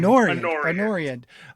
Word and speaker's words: Anoriand: Anoriand.